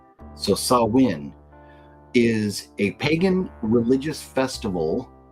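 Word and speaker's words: Samhain: so here you go so it looks like Sam samain but you can see a gelic word pronounced sawin so sawin is a pagan religious Festival originating from an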